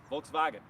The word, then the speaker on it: Volkswagen: Guys, this is the 21 Volkswagen ID.4. It's Volkswagen's first, that's a fun one to say, Volkswagen. If you want to say it correctly, it's Wagen, Volkswagen.